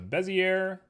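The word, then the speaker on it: Bézier: We're going to go ahead and make ourselves a curve, and I'm going to use a Bezier, which is exactly how you're supposed to pronounce it.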